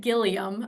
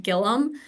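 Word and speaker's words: Gilliam: uh my last name it looks like gillium but it's actually pronounced Gillum so I noticed that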